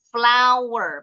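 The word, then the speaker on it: flour: Jadi gandum itu kalau digiling jadi tepung flower. Bacanya sama kayak bahasa Inggrisnya bunga.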